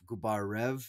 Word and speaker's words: Gubarev: towards a People's Republic Pavel gubario gubarev is how you pronounce is how you uh